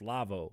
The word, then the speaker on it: Lavoe: k-l-k-l-a-v-o-e dot com um i have to spell it because for some reason everybody hears k-love or they think that's what it is it's lavo l-a-v-o-e so it's k-l-a-v-o-e dot